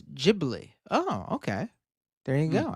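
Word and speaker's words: Ghibli: In Japan, Gibli is pronounced as Jibli.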